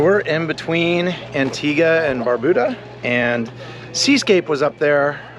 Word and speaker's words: Barbuda: by the way locals tell me it is pronounced Barbuda the internet told me different so I pronounce